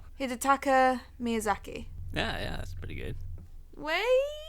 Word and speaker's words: Hidetaka Miyazaki: name, and then you're going to correct my pronunciation. Hidetaka Miyazaki.